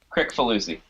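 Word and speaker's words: Kricfalusi: Crick Falusi. Crick Falusi. So it's exactly how it's spelled.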